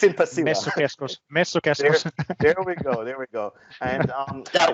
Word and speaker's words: Messukeskus: Messukeskus.